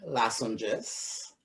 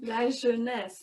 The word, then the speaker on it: La Jeunesse: Well, we have Michael Motley, Prime Anthony Guerra, Curtis Bruiser Noel, Richard Popcorn Cumberbatch, Autrey Nundi, Kelly Lasonges, I might pronounce that wrong. La Jeunesse. Yes.